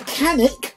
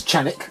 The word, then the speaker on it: Canik: boy is basically the canik i think it's channic i think that's the proper way to say it even though in my part of the world that is canik but chatic anyway um so